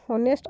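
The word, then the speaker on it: honest: है किंतु इस य शब्द ऑनेस्ट को उच्चारण ऑनेस्ट अर्थात एक वोल साउंड से शुरू होता है फिर है फिल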